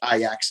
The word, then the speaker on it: Ajax: the dutch soccer team ajax which is pronounced iax if you're in in holland uh so every time